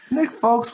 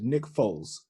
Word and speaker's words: Nick Foles: with it back anyway nick folks was it's nice first of all you're not you're gonna stop saying the name wrong he is a super bowl winning quarterback it is nick foles there's no case no